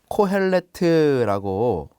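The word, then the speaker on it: קֹהֶלֶת: 전도서란 무엇일까요 먼저 그 전도서이 히브리어로 보면 코엘레트라고 읽습니다이 코 헬레트는 카할 그리고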